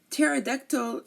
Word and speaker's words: pterodactyl: hard but tctl okay we do not pronounce the P here and a pterodactyl is a um Instinct